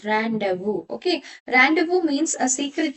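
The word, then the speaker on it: rendezvous: So, camouflage rand but that is not the correct pronunciation. The correct pronunciation of this word is randu.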